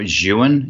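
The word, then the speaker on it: Zhiyun: biggest fan of is the Zion or Ewan is apparently how you say it the Zhi y un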